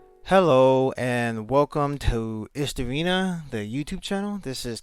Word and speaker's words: Istorina: Hello and welcome to Istorina, the YouTube channel. This is kind of my introduction to the YouTube world. Um, this is essentially it. This is Istorina. That is indeed how it's pronounced.